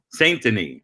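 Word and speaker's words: Saint-Denis: Denis, but Saint Denis sounds good to me. Oh, how do you say it? Saint Denis. Saint Denis.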